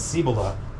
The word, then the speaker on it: Cibola: pyramid peaks and uh what is it cibola cibola it is pronounced by the locals as cibola so that'll be an